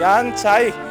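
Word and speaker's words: Jan Zajíc: 위령패가 있습니다 이름이 양팔라흐 얀차이 여기는 유럽에서는요 제이 발음이의 발음이납니다 이응 발음입니다 그래서 제 이름도 제이유엔 준인데요 얘네들은 이혼 이렇게 부릅니다 자 양팔라우 얀 차이이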